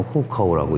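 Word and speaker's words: 户口: 호구라고 이제 한자로는 쓰는 거고 중국말로는 후카오라고 읽습니다.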